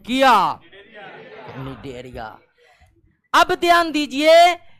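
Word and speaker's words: Cnidaria: जाता है need area और निडरिया में सी जो है साइलेंट रहता है।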